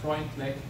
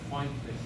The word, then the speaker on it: Freundlich: For instance, the Freundlich isotherm is not pronounced that way. It is the Freundlich isotherm.